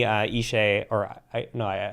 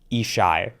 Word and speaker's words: Ishay: And Danny Ishay, he told me I was pronouncing his name wrong. Ishai, I believe is how it's pronounced.